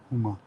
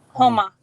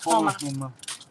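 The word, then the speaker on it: Houma: She said we're 15 minutes from Huma. We're 15 minutes from Huma. Homa. I said it wrong again. Homa.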